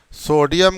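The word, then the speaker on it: pseudo: are false और सुडो सुडो P silent रहेगा पी एस ई यू डीओ सुडो solids जर false are सुडो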